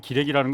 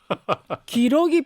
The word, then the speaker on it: 기러기: 기레기라는 건 다른 뜻이고 기러기 편대. 아이고 기러기 편대 이론이라고 한국어 표현을 제가 찾아왔어요. 아까 자꾸 기레기 편대 이론이라고 해서 발음이 기러기 기러기 아니에요? 기러기.